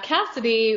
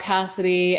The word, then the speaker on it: Kasidie: friend and talk about Cassidy and first and foremost it's not spelled like Cassidy normally would be it could be a